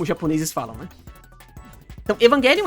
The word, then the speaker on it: Evangelion: significado do grego, e é por isso que eu falo ela Evangelion e não Evangelion, porque a palavra vem do grego, e em grego, eles não têm esse som de J, eles pronunciam o G mais forte.